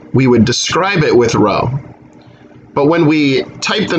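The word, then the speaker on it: ρ: that with row and that's pronounced row like row row row your boat so we're going to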